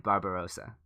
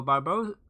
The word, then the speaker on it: Barbarossa: And Barbarossa, or as Swagger likes to say, Barbosa. I think he misses a syllable. So Barbarossa.